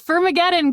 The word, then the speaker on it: Firmageddon: Is it Fermageddon? Yes, it's Firmageddon. Good job, Claudia. Thank you. What's causing Firmageddon? And that's F-I-R spelled like fir tree.